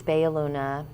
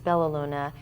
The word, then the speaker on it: Bella Luna: Boston Jamaica plane so in Spanish it's B Aluna in Italian it's belluna and most English speakers